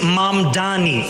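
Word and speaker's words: Mamdani: And furthermore, the name is Mom Dani. M A M D A N I. You should learn how to say it because we got to get it right.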